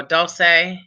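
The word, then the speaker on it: dulse: his a dose or Dulce dose like pulse that's what I'm thinking but I could be wrong okay it's dolls like pulse and it's a sea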